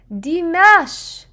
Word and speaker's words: Dimash: Ah that's how you say his name deash wait oh my gosh I'm G I feel